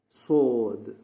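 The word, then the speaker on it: ص: Now coming to the next letter, that is sod. It is already thickly pronounced. Sod. Even when you say sod, the sound is thick.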